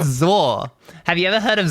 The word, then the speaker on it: ZAW: No, it's a game called Zor.